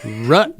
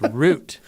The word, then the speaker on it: root: video yeah you said I say it rut beer and you guys are telling me and and rut it's it's root and I was like